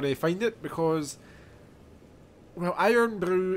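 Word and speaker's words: Irn-Bru: find it because, well, Iron Brew is a Scottish drink. And exactly how Scottish is it? It's spelt IRNBRU.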